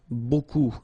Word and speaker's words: beaucoup: Remember, you don't pronounce the final P, okay? And then you get this combination of vowels, E, A, U, and you get the sound O. So technically it's beaucoup, okay?